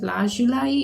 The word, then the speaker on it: lapis lazuli: I pronounce it lazuli, but I should probably pronounce it lazuli in English.